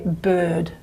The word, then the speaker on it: bird: So if I were to be really, really pure and pronounce this vowel as it's meant to be pronounced, it'd be something like bird, bird, something like that. But that's not how we say it in Australian English. We say bird, and the tongue is quite forward, front, okay?